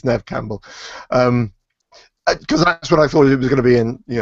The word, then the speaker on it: Neve Campbell: because I'm not madly better but yes it's Nev Campbell because that's what I thought it was going